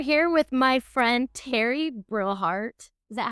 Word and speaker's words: Brillhart: Today we are here with my friend Teri Brillhart.